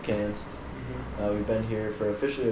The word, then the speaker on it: Cairns: American that is called cares um but yeah it's actually pronounced cans we've been here for